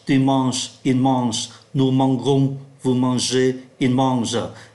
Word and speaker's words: mangeons: Je mange, tu manges, il mange, nous mangeons, vous mangez, il mange. Lý do là bởi vì ký tự G khi đi với E, I, Y đọc là J, trong khi ký tự